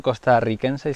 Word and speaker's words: costarricense: a construir hola amigos creo que dicho costarricense se dice costarricense bueno en costa rica no pronuncian la r así como sea las dobles resisten costa rica así que no sería costarricenses me entero mirad